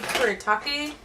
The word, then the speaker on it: Kuretake: The Zig Kuretake, that's how you pronounce it, the comic brush, was fine.